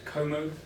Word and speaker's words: Como: The final game I'm going to talk about is Como.